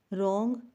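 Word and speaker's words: wrong: underline करना है रंग रंग में भी डब्लू और आंसर आंसर में भी डब्लू जो है उसको बोला नहीं जाता लेकिन लिखा जाता है लाइट का जीबी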